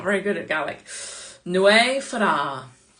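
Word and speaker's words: Nwyfre: very good at Gaelic, Nwy Fara. Okay, it's Nwy Fara, it's spelled N-W-Y-V-R-E.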